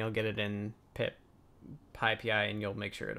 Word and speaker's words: PyPI: I've heard them pronounce it PyPI, as in the Anyway.